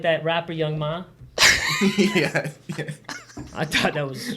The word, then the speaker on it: Young M.A: I think it's Young M.A. Yeah, well, Young Ma. I swear to God, that's not how you pronounce I it. think she says M.A.